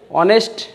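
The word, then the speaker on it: honest: ম্যান বলতে অ অনেস্ট এখানে এইচ উচ্চারণ হয় নাই এইচ উচ্চারিত হয় নাই তো এইচ উচ্চারিত হওয়া নাই তারপরে কী দেওয়া হয়েছে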